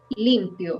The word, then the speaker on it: limpio: This word, when it's an adjective, this one is limpio. So the accent is in the first syllable, limpio. Because if you put the accent in the end, it sounds like the verb limpiar in past.